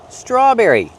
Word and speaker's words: strawberry: Strawberry. We see the TR together making the ch sound, like train and truck. Together, straw. Make the R sound with the voice, not straw, but straw. Strawberry.